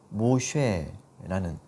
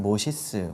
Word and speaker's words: 모세: 생각해 볼 필요가 있습니다 모세라는 이름은 이집트어로 모쉐라는 이름인데요 태어나다 하는 뜻이에요 근데 이건 당시에 흔한 이집트 이름이었다 그래요 이집트식 발음으로는 모시스 뭐 이렇게도 이제 부르는데 바로 파라오들 중에도 모시스라는